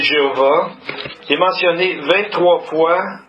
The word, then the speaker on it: Jéhovah: C'est Yud He Vav Y H V H, qu'on prononce aujourd'hui Jéhovah.